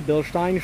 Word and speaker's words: Bilstein: this for sure and it has Bilstein and that is pronounced correctly Bilstein shocks which are fantastic